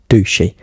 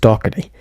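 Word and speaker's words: Docherty: Yes, I know it's not meant to be pronounced Ducey, and I know it's meant to be pronounced Doherty. I don't know why, but when I was recording it, I pronounced it as Ducey.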